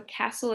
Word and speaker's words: castle: in a okay so Castle has a silent letter can anybody guess what that silent letter is it's a t so Castle is c a s t l e castle